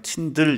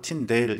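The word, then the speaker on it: 틴들: 윌리암 침대 2 밀양 팀들 이라고도 말하고 팀 내 일을 이렇게 발음 하기도 하는데 민주적 팀 데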